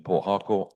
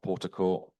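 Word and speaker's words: Port Harcourt: a second POP in Port Hardcore Porticore I'm told it's pronounced both ways um and really that's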